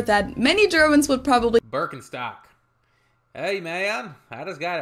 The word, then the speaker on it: Birkenstock: their native accent so English speakers usually say Birkenstock in German we say bstock Birkenstock BTO which literally translates to Birch